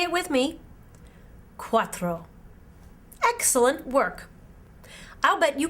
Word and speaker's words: cuatro: tres in spanish tres the number four is pronounced cuatro in spanish can you say it with me cuatro excellent work i'll bet